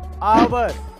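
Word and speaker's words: hour: Number two, अगर किसी word में ओ से पहले एच आए तो उसमें एच साइलेंट रहता है, जैसे कि ऑनर, आवर, ऑनेस्ट।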